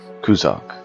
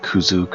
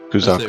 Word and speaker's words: Kuzak: Kuzak. I keep thinking like Kuzuk or Kuz, so I have to look at it to remind myself to say it correctly. So, Kuzak.